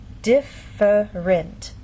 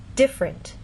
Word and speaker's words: different: In very slow careful speech and especially formal speech you might get this pronunciation different. But often in fast speech you lose that middle sound and you get different.